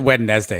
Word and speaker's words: Wednesday: This is a special Wednesday edition of the Sons of UCF Live, starring Adam and Mike. Question, why don't we pronounce the D in Wednesday? Why is it Wednesday?